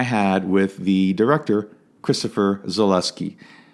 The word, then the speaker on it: Zaluski: Zaluski.